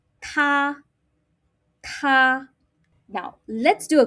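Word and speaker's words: tā: Now, he, she, it in Mandarin is ta. Ta. Make sure you're blowing because it starts with alphabet T. Hence, you got to blow.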